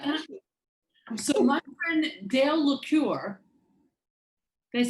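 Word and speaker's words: L'Ecuyer: So my friend Dale Lecuyer, did I say it right, Dale?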